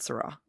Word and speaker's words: Saara: and I I believe her first name is pronounced Sarah but it could be Sarah um but I'm GNA go with sarra we did Google that I remember we we have Googled that and Google said Sarah so we did we